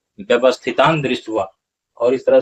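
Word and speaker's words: व्यवस्थितान्दृष्ट्वा: होगा, व्यवस्थितान जोड़ दृष्टवा, व्यवस्थितान जोड़ दृष्टवा, तब क्या होता है, व्यवस्थितान दृष्टवा।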